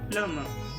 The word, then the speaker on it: plumber: We call it as plumber, plumber, because we see the letter b over there, but whenever m and b are placed together, you should remember that b is always silent.